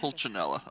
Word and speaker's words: Pulcinella: Pulcinella, okay. That's how it's Chuganov.